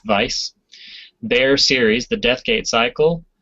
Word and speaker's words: Weis: Tracy Hickman yes and Margaret Weiss although I think it's pronounced Vice their series the deathgate